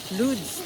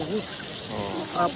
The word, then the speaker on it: Łódź: Nandito tayo ngayon sa Lourdes, pero pagbigkasin nila ay Woods, Poland.